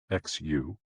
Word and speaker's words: xu: The 6 sounds are XU, pronounced like shh, with a deep sigh, which is associated with the liver.